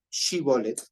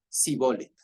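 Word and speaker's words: שִׁבֹּלֶת: no Entonces le decían ahora di shibolet y él decía si bolet porque no porque no estaba preparado Así dice no es que no podía pronunciarlo bien correctamente de acuerdo dice Entonces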